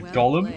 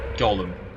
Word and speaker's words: golem: it's time you said Golem hey didn't I stand by it damn it you're absolutely wrong though I mean nobody nobody says Gollum for for a Golem like that nobody I've seen American